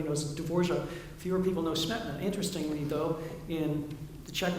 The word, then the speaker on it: Smetana: they think of Smetana, which I understand we pronounce incorrectly in the United States. It really should be Smetana. But everybody says Smetana.